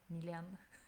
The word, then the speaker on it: Mylène: C'est vraiment, ça s'écrit comme ça se prononce, M-Y-L-N, Mylène.